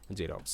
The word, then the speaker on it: Xerox: consonant থাকবে না মানে শুরুতে জাস্ট এক্স থাকবে সেক্ষেত্রে এরকম সাউন্ড হচ্ছে জেনন জেরক্স আচ্ছা তোমাদের জন্য এখানে